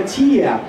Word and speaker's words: Tiger: In realtà Tiger non si chiama Tiger, in realtà Tiger si pronuncia in danese, e quella parola lì in danese si pronuncia Tia, cioè la G scompare.